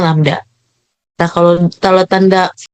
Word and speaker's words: lambda: Kalau yang tanda P itu dibacanya rho, kalau yang tanda kayak Y kebalik itu dibacanya lambda.